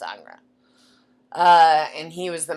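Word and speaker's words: Ingres: artist whose name was angra spelled i n g r e which looks like anger but he's French so it's pronounced anra uh and he was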